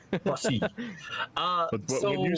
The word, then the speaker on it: Poissy: I went to Google Translate and had it pronounce it for me, and it's Poissy. Poissy.